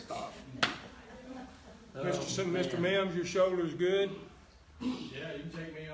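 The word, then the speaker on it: Geaux: of months, I'm beginning to remember how to pronounce their last names. I think G-E-A-U-X is go.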